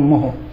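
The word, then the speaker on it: mho: হয় এইটা, এরকম এরকম, আর এর উচ্চারণ হলো এই ওমটাকে উল্টায় পড়লে যেরকম হয় মোহ, সেরকম এই উচ্চারণটা ওরকম মোহ। ওমকে উল্টায় লিখলে যেমন হবে সেরকম চেহারা, এবং ওমকে উল্টায় পড়লে যেরকম উচ্চারণ হবে এর উচ্চারণটাও সেরকম মোহ।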